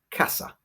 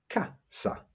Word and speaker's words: casa: Well, let's take a simple word like casa, house. We stress that word on the first a, casa, not casa.